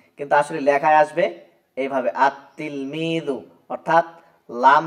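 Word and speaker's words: التلميذ: plus তিলমিদুন তাহলে এক্ষেত্রে হবে আতলমিদু এটা দেখেন উচ্চারণে আসছে এইভাবে কিন্তু আসলে লেখায় আসবে এইভাবে আত্তিলমিদু অর্থাৎ লাম যে হরফটা আছে এই হরফটা এই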